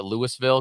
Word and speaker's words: Louisville: last year either and as a Colorado kid we pronounced it Lewisville because there's a louville Colorado and that's how Americans